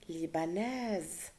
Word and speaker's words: libanaise: C'est-à-dire, Yasmine est libanaise. I have to pronounce the S.